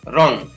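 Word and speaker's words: wrong: Next है W यहाँ पर भी साइलेंट रहेगा तो यहाँ पर र को पढ़ेंगे र ओ एन यानी आधा ना को और ग, रॉन्ग।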